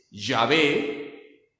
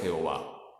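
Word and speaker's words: Yahvé: vamos a explicar que la pronunciación correcta de las cuatro letras sagradas ya ve y no es jehová como ya explicamos también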